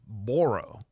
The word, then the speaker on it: Borrow: his name is hoe borro b r r o w spelled like borrow which is very fitting because